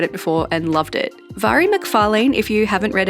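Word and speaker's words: Mhairi: Vari McFarane, if you haven't read any of her books before, it is pronounced vary even though it's spelled with an MH.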